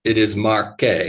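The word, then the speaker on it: Marche: and by the way in Italian language every letter is pronounced and so uh that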